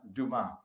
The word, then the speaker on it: Dumas: was and he goes it's pronounced duma yeah you know that's